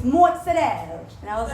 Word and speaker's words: mozzarella: I'm like, mozzarella sticks. Yeah. And he's like, no, you're wrong. It's mozzarella.